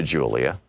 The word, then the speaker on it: Julia: I began to speak to Julia, pronounced Julia, in Spanish.